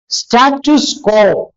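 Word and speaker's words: status quo: എങ്ങനെയാണ് അത് ചെയ്യുന്നത് അതാണ് സ്റ്റാറ്റസ്കോ കോടതിയുടെ വരുന്നതാണ് കോടതിയിൽ വരുന്നതാണ് നമ്മൾ ഇപ്പോൾ ഒരു കേസ് തലസ്ഥിതി തുടരാൻ ആയിട്ട് പറയുമ്പോൾ സ്റ്റാറ്റസ്കോ എന്നാണ് പറയാറുള്ളത് സ്റ്റാറ്റസ് കോ എന്നാണ് അതിന്റെ പ്രൊനൗൺസിയേഷൻ ലാറ്റിൻ ആണ് സ്റ്റാറ്റസ്കോ എന്ന് നമ്മൾ സാധാരണഗതിയിൽ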